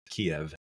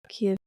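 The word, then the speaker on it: Kyiv: K is it Kev I think they pronounce it ke ke we've always said it Kev sounds like you said a Kia like a car right right but I'm I'm putting a v on the end Kiev Kev yeah well it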